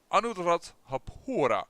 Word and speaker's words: Anuradhapura: So Anuradhapura is how I tend to pronounce it.